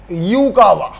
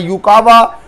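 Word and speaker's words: Yukawa: यू यूकावा, बेटा वो अलग बात है, यूकावा की स्पेलिंग वाई से स्टार्ट होती है।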